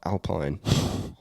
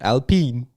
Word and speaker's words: Alpine: sneak up where australian it's spelt alpine we're not some french little loser they're called alpine um but yeah i